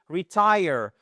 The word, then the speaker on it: retire: So, prendre sa retraite to retire. Et faites attention, vous avez l'accentuation. J'insiste vraiment. Je sais que là aussi je radote encore une fois vous avez l'accentuation sur la seconde syllabe.